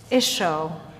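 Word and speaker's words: ܝܫܘܥ: Isho. Isho is how you say Jesus. Jesus means the Lord is my salvation. The Lord is salvation. And in Aramaic, it's Isho.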